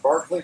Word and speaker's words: Berkeley: Story begins in England over at Barkley Castle pronounced Berkeley here Berkeley there we're Americans we pronounced directly 38 men board a